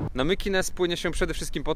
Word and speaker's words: Mykines: Nazwę wyspy powinno wymawiać się Mykines, co nie zmienia faktu, że na element animalny wciąż czekamy patrząc na farerską flagę.